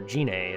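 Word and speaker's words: Gine: doing a stereotype Goku's mother's name is Guinea or genei it's Guinea but some people like to pronounce it differently GI and II she's in some media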